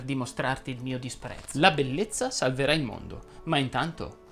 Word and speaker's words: bellezza: le parole che terminano in essa etc etc etc vanno pronunciate con la è chiusa ed infatti si dice ribrezzo attrezzo vezzo battezzo debolezza bellezza tristezza finezza e così